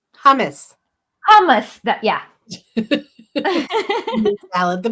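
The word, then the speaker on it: hummus: uncoincidentally the Hamas Hamas how do you pronounce that word what word the bean salad that Arabs eat not Hamas the other word hamus hamus that yeah salad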